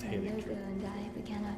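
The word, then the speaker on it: Haligtree: Oh, it's pronounced Halleck tree.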